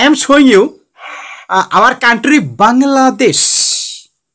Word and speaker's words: Bangladesh: Okay, just I am showing you our country Bangladesh. Bangladesh. Bangladesh. Bangladesh. How many syllables? Near India. Beside India. Not India. Beside India we live in. We can divide the word into three parts.